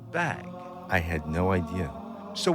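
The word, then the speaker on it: bague: is spelled b a qu u e it's pronounced bag I had no idea so when Jean cren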